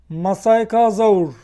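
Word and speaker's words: Masiakasaurus: masaka geldi aklıma bir an okunuş ona benziyor masay kazur diye okunuyormuş Türkçede bakın arkası bu şekilde bu Türkiye'de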